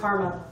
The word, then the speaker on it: CCRMA: so it's ccrna is the acronym and it's pronounced karma i get to say i work for karma